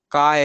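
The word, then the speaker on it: χ: अगला काय है, ओके? चाय नहीं पढ़ना उसको। जो जो थर्ड लास्ट है ना, फाय के बाद का, इसका प्रोनाउंसिएशन काय है, ओके? काय। उसका एच काइंड ऑफ साइलेंट है, आप मान सकते हो, नहीं तो चाय पढ़ लेंगे हम उसको।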